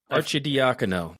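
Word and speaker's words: Arcidiacono: Ryan Archer, I think it's Archie D anoph There there's Archie Dakano. It is multiple syllables.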